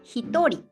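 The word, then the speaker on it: 一人: nin after numbers just two exceptions one person hitori two people futari otherwise right and 100 people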